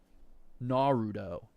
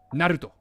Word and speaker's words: Naruto: Uh, I think you'll I think you'll find that it's pronounced Naruto. Naruto.